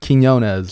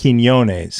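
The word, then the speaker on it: Quiñones: Quinones. Quinones. There we go. Ez or Ace? Because I'm trying to like pay respect and put the Mexican flair on it a little bit. Quinones.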